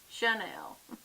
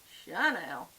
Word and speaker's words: Chanel: Chanel. That's the southern subby way. Chanel.